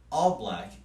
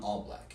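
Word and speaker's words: ALLBLK: film upon further investigation all black is what I'm assuming it's pronounced is quote the first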